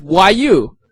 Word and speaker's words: 语: So 语 the pinyin is YU. So Y pronounced Y, and U doesn't really pronounce U